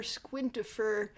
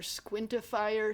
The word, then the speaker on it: Squintifer: And then Sir Squints, he used to be called Sir Squintifer, but I think everyone was mispronouncing it Sir Squintifier, so he just changed it to Sir Squints.